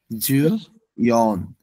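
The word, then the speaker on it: よん: 13 Japanese হচ্ছে সান 14 হচ্ছেন এখানে বলা যায় যাবে না বলতে হবে যুন 15 হচ্ছে যু গো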